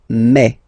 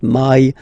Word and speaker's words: mai: In French, remember when you combine this a and then I vowels, you get the sound e. So really open e, okay, and then you pronounce it me. Okay, so don't pronounce I, don't try to pronounce it. No, it's me. So it's not my, it's me.